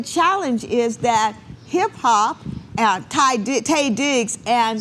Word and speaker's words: Taye Diggs: Sanaa Lathan, and is it Ty Diggs? Taye Diggs.